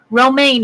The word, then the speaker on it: Romaine: Romaine is how you pronounce it.